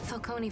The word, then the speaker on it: Falcone: finally got around to teaching people how to pronounce his name falcone paid him off just stood up to falcone